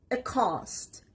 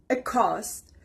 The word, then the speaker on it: accost: the first word is a cost a cost the stress is on the second part a cost it means to approach